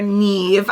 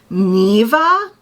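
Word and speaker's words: Niamh: our main female character Neeve I'm saying Neeve it might be Neeve this is how they spell it but I did look it up and the Gaelic pronunciation is Nea or NE I believe I've been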